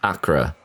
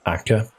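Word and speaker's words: Acre: Involved in the siege of Acra in the Middle East. Wait, isn't it pronounced Aka?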